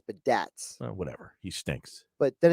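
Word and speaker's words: Biadasz: According to this pronunciation, it's Badaz.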